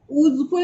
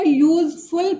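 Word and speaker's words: useful: लेकिन फिर भी इसका ऊजफुल नहीं हुआ, इसको हम ऊजफुल नहीं पढ़ के हम इसको यूजफुल पढ़ेंगे। तो ये क्या हो गया, इसका उच्चारण कॉन्सोनेंट की तरह हुआ है, तो इसके आगे हम आर्टिकल ए लगाएंगे।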